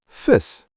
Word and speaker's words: vis: In Afrikaans, vis. But be careful, it's spelled with a V, V-I-S.